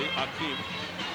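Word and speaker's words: Hakeem: It's spelled now with an H, Akeem, but it's pronounced as it used to be, Akeem.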